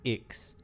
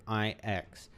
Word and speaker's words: IX: Beque strength unto Mortals I always thought uh the nil guy's name was X I'm surprised to hear that they actually pronounce it iix that makes me think